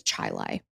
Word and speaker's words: Chili: cuz it's embarrassing but it is a different kind of way of saying it but it's spelled like a chili cook off you know so that's confusing but it's Chilai Britney was a junior